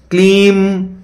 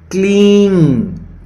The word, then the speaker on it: क्लीं: उच्चारण कैसे करना है जब आप क्लीम जपते हैं क्लीम यह भी चलेगा लेकिन सबसे स्पष्ट जो है वह है क्लींग क्लींग ग जब बोला